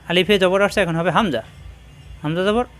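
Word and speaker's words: همزة: আগা নিচের ঠোঁটের পেট হামজার মাখরাজ কণ্ঠনালীর শুরুতে মুখ খোলা থাকবে হামজাহ হামজাহ শক্ত করে উচ্চারণ করতে হয় এখানে যখন হরকত আসছে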